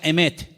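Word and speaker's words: אמת: verdad y la palabra verdad en hebreo se pronuncia emet y vamos a ponerla ahí para que ustedes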